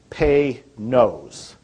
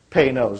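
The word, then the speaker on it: Panoz: pronounce it right it's pay nose penos like p-a-y and then n-o-s-e knows is how you would pronounce that some of you know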